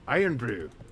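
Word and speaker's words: Irn-Bru: Iron Brew.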